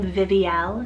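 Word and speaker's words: Vivielle: gorgeous l ending name i have the name viviel spelt v-i-v-i-e-l-l-e and this one's a modern play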